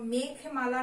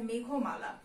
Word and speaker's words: মেঘমালা: যেমন ধরো মেঘমালা না হয়ে সেটা হয়ে যাবে মেঘমালা।